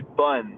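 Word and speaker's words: bonne: But if you said like the feminine side of bon would be bun, B-O-N-E. So then you would say bun.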